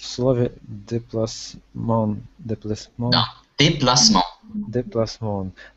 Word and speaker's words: déplacement: Да, déplacement. Déplacement. Там, я так понял, окончание у нас читается on, как бы. Да, носовой у нас on, on, déplacement.